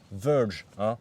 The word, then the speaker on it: Verge: autour c'est fabuleux et ça s'appelle vege on prononce pas la française sinon ça fait bizarre alors ce constructeur finlandais